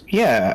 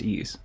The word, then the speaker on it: Ys: It's It's pronounced ease, but e I I've heard ye like the yees as well, but I'm pretty sure it's ease.